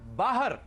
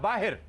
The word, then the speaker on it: बाहर: नहीं मोची को लोए दूसरा लफ्ज है बाहर या बाहिर हमारे यहां 90% लोग इसे मिस प्रोनाउंस करते हैं। बाहर कहते हैं बाहर बाहर से कोई